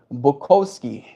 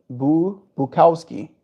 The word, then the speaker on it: Bukowski: Roomie, Thorio, Thomas Merton, and even Bukovski. I might have butchered the last one as well. Bukowski. Bukowski. That's the one.